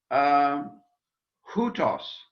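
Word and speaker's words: οὗτος: Hutos. Notice the rough breathing over the diphthong.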